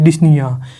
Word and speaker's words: dyspnea: एंड इसके लिए एक क्लिनिकल टर्म यूज करते हैं जिसे हम बोलते हैं डिस्निया, DYSPNEA, डिस्निया। एंड देखिए इसी के नीचे मैंने एक स्पेलिंग और लिख रखी है, यहाँ पे मैंने ओ को एक्स्ट्रा लिख रखा है।